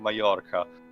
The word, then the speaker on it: Mallorca: During this time, Sand took Chopin to the Spanish island of Mallorca to allow him to rest. It's pronounced with a, J, sort of. Or Y.